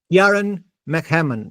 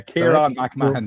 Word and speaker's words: Ciarán McMahon: Today we have Ciarán McMahon. No, I've said it wrong again, but it's close enough. It's one of those brilliant Irish names. Is that it? Yeah. Ciarán McMahon. Yeah. Ciarán McMahon.